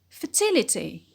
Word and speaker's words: fertility: on pry the anti-penalty fertile fertile the stress on fur when we add it becomes fertility fertility the next word